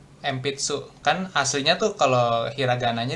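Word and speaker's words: 鉛筆: Jadi bacanya M sebelum huruf P kayak gini nih. Empitsu.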